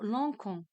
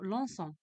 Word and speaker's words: lançons: ex nous lance ici si je mets o n s euh je prononce quand nous Lons alors je dois ajouter la CD pour la prononcer correctement donc nous prononçons ou bien nous lançons donc nous lçons le